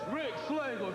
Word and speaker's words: Rexx Slagle: It's Rexx Slagle.